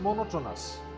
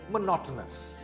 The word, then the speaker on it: monotonous: This word is not monotonous. It is monotonous. The second syllable is stressed. Again, this word is monotonous.